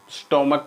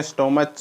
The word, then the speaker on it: stomach: Pronunciation में क्या बोलते हैं, स्टोमक बोलते हैं, स्टोमच नहीं बोलते हैं। ठीक है, STOMACH, स्टोमक, च की ध्वनि नहीं आती है, क की ध्वनि आती है।